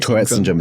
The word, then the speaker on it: Tourette syndrome: Am I pronouncing it right? Tourette Syndrome is correct.